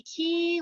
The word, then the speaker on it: Quay: Now, Key is spelled in the French way. It's Quay, because I was saying Quay Wardlaw House. And somebody laughed at me on my tour and they said, it's the Key Wardlaw House.